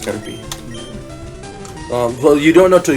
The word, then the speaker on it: Caterpie: P-I-E is pie. I know, but it's pronounced Caterpie.